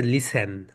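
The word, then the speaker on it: listen: যেটা রয়েছে সেটা হচ্ছে লিসেন লিসেন right লিসেন লিসেনে theta silent থাকে ঠিক কি হয় বলতো এর প্রনান্সিয়েশন এখানে হয় না সাইলেন্ট থাকে তাহলে সবাই বল লিসেন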